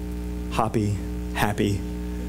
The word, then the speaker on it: Hapi: Happy. I tried to find a way to pronounce it that was not happy, because then you're thinking of the dwarf.